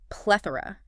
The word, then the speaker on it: plethora: Our sixth word is plethora. P L E T H O R A pronounced t the or a noun this time.